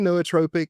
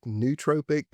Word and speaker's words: nootropic: Uh, it's first probably fair to call out that this is a term that we will hear pronounced a lot of different ways, including noatropic, neutropic, neutropic, and probably some other variations as well.